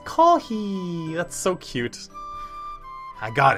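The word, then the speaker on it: コーヒー: In Korean it's kopi. Kopi. Sounds like copy, right? But in Japanese it's kohi.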